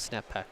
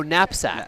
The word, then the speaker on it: knapsack: And what is what is snap pack? Uh uh it's kind of algorithm similar like backtracking right? Yeah. Oh napsack. Napsack. Napsack. Okay. We pronounced wrongly.